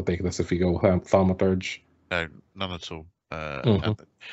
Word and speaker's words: Thaumaturge: Yes, Thaumaturge.